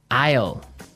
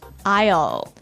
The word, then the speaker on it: aisle: spelled so strangely right we don't pronounce the S the S is silent that's true ale so